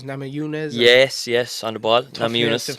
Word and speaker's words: Namajunas: Yes, on the ball, Namajunas. To pronounce.